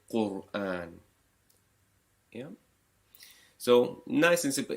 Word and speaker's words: Qur'an: The letter before it, Qa, has a dhamma. You pronounce it Qur'an.